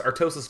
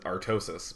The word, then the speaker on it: Artosis: And of course, Artosis doesn't say his name like that. He says it Artosis.